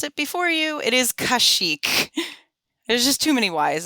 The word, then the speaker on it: Kashyyyk: Thank you for making me not have to pronounce it before you. It is Kashyyyk.